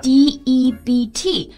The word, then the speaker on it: debt: 还有一个欠债的债这个单词是的 D-E-B-T 中间的字母 B 呢也